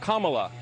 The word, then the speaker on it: Kamala: fellow hosts on fox her name is pronounced comma like the punctuation mark look kamala okay seriously i've heard